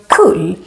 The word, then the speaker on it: kull: Then we also have the word kull with double L, which makes the U short.